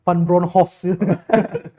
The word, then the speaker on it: van Bronckhorst: katanya Giovanni Van bronckhorst yang betul penyebutannya bacanya Van bronkhorst panjongko bronkhorst yang tahu